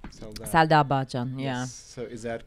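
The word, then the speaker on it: Selda Bağcan: that singer, Selda, I don't know how to pronounce her name. Selda Bakan, yeah.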